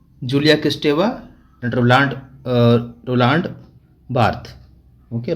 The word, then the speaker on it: Julia Kristeva: Okay, Michel Foucault, Jacques Lacan, Julia Kristeva, and Roland Barthes. Okay, Roland Barthes. That's how these names are pronounced.